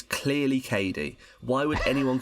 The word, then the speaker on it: Cady: Her name is spelt phonetically. It's clearly Cady. Why would anyone call her Caddy?